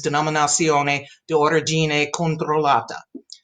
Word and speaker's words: Denominazione di Origine Controllata: Okay, and now I'm going to pronounce those for you. In Italian, DOC is Denominazione di Origine Controllata.